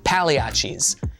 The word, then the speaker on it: Pagliacci: Then, make your way to Pagliachis, which is apparently pronounced Paleiachis.